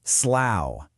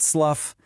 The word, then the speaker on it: Slough: It is pronounced slough, as in it rhymes with cow, not slough, not slooh.